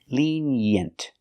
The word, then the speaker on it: lenient: Put the stress on the first syllable.